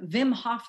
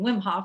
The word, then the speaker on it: Wim Hof: say it of course i was saying wim hof at one point now i'm saying vim hof but anyway there's this